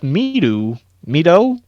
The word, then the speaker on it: Mido: He starts tracking down the clues as best he can until he's picked up by the sushi chef Mido. I would pronounce Go it with Mido Mido.